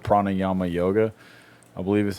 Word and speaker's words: pranayama: And it's like they have the whole thing called pranayama yoga. I believe is how it's pronounced.